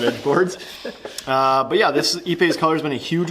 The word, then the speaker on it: ipe: It's Ipe in our neck of the woods, if you want to say it properly.